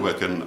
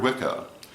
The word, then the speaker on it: Wicca: bear in mind that there are two words pronounced Wicca one has one c w i c a one has two C's w-i-c-c-a and they are not the same Wicca with one C